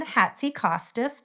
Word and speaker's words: Hatzikostas: And I did pronunciate your name before we hit record, but I'm going to say welcome Hatsy Kostas to the show.